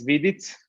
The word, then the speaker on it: Vidic: all right so uh my last name is vidit it's gonna it's hard to pronounce it but uh thanks for having me